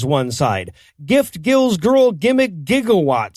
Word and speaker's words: GIF: this issue comes up the guy who invented it pronounces it jiff says one side that's a peanut butter says the other when Jesus sees are followed by an i or ii they're usually pronounced as soft says one side gift Gil's